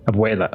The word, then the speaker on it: abuela: Abuela.